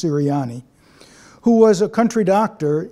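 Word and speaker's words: Ceriani: I think it's pronounced Siriani, who was a country doctor in Kremling, Colorado.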